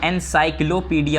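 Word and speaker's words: encyclopaedia: क्या, एनसाइक्लोपीडिया। अब देखो इसकी स्पेलिंग देखो, ENCY साई, CLO Sai, kilo, PAEDIA pedia, एनसाइक्लोपीडिया, ठीक है, ए साइलेंट होता है, पीडिया।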